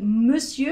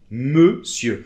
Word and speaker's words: monsieur: finale, et dans "monsieur" ça ne finit pas en -ER et on ne le prononce pas donc c'est une exception, on dit : monsieur .